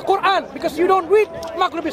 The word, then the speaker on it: Qur'an: You think we would say Furhan, but it's actually Qur'an, because you don't read Maghribi script.